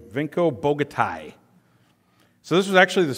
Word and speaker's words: Vinko Bogataj: Vinko Bogataj.